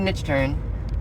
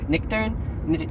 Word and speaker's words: Nichtern: That's what he called, it's David Nichtern. I think I'm saying that wrong. Nichtern? It's spelled with a CH, so Nichtern, motherfucker. It's America.